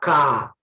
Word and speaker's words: car: I have a car. A car. R is also silent, my dear students.